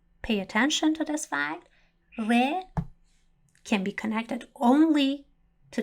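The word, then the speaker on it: ر: we do not pronounce re rolling our tongue in Farsi, but instead the tip of the tongue strikes the front part of the roof of our mouth.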